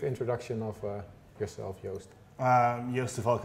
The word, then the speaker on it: Joost de Valk: of yourself yoast um yoster volk i run a company called yoast so everyone knows how to pronounce my name we're a growing wordpress